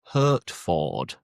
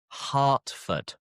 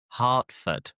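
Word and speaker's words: Hertford: Hurtford. The vowel is weird again. So we pronounce the e like an a. So it is heartford. Hartford. Hartford.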